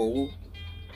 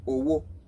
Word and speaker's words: owó: fi te omo araye lorun to ba doro owo iyen lo fa to fi je pe owo la ma joro loni a ma so nipa bi awon eyan se le ma daruko owo nigba to ba nsoro lede Yorùbá.